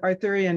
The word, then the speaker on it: Arthurian: um anyway yes um Arthurian as in King Arthur and the Knights of the Round Table um which which you